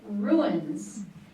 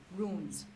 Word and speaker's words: runes: The next word is ruins.